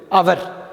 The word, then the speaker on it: hour: First word வந்து அவர். பாருங்கள், இந்த ஹெச் வந்து சைலண்ட், நம்ம உச்சரிக்கக்கூடாது.